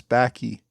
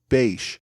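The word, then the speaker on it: Bache: few varied pronunciations but I think the correct one is Bash Benjamin Franklin bash so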